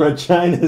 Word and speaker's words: Regina: It's the rookie kicker from Regina, Saskatchewan. What? Kicker in the fucking head. That's why Regina rhymes with fun.